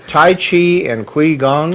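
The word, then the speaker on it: Qigong: did I say that right Tai Chi and quong chiong ch ch chiong and in Chinese for some reason they pronounce it Qi Chi chiong yeah Chong okay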